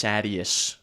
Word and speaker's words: Sadeas: to High Prince Sadeas, which I found out is pronounced Sadius from the audiobook, but I think that's stupid. Sadeas.